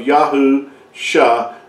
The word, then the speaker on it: Yahusha: two together you come you come with the uh pronunciation of yahu sha yaho revealing that salvation